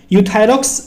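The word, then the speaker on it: Euthyrox: नाम क्या है यूथस यहां पे गा ई साइलेंट है सिर्फ यू पढ़ते हैं हम यूथायरॉक्स 100 के नाम से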